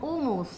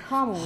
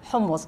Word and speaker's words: hummus: receta nosotros muy curiosamente le decimos humus pero comoo es homus humos es Es una letra que no se no se pronuncia en español no hay es aguda sale de aquí homos homos para la receta de